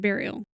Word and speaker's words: burial: Well, it would be burial, but it's burial. Yeah, it would be burial, but it's spelled. You pronounce it burial. And that bugs me because it's a U.